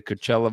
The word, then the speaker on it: Coachella: Just started week 2 as they get ready to take part in the Coachella Valley Invitational.